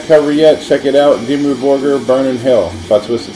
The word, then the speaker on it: Dimmu Borgir: Oh, I also wanted to tell my friend Shant out in New York the correct pronunciation of that band I told you about was Dimmu Borgir.